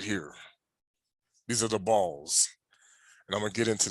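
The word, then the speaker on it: Baal: of his mouth because it says b-a-a-l it could pronounce bail or ball by l properly ball was a title and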